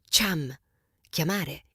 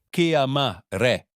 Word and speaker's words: chiamare: The pronunciation is hard. Chiamare. Chiamare.